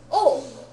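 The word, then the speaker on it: を: the good news is object starts with o and it's pronounced oh cool right so it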